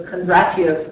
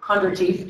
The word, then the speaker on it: Kondratiev: sometimes referred to as Kondratiev, or Kondratiev, depending on your pronunciation, waves.